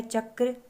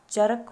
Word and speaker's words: चक्र: जाता है जैसे क्रम कि अगर हम है ऐसे तो नहीं पढ़ सकते कि अगर का से पहले राघव उच्चारण किया जाए तो रकम हो जाएगा वह रकम अ है या आगे है चक्र तो चरक हो जाएगा कि ऐसा नहीं है इसका जो सही उच्चारण होगा वह जिस वर्ण के पैर